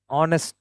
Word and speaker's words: honest: So here honest H is silent.